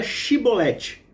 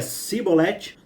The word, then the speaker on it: Xibolete: Os homens de Gileade lhe diziam, então diga Shibolete. Se ele dizia Sibolete, não podendo pronunciar corretamente a palavra, eles o agarravam e matavam.